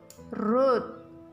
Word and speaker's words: wrote: V2-nya jadi root. W-R-O-T-E. Root. Bacanya W-R-O-T, bacanya root. Root aja. W-nya nggak usah dibaca.